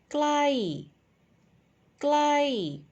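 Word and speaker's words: ใกล้: my personal favorite and the first one is falling tone and the second one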